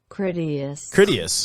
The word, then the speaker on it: Critias: Critias.